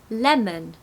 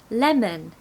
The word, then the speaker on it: lemon: here we go lemon here we've got the stress on the first part so the second part is going to be a schwa so lemon lemon deliver we've got a